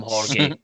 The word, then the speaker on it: Jorge: good point, but see, because of the name the way his name is spelt, we have to call him Jorge, right? We're not calling him George. We're calling him Jorge. Gorgie.